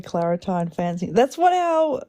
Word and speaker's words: Claritin: It's Claritin. Well, we say Claritine. I don't like it. Tine. There's no E at the end of that.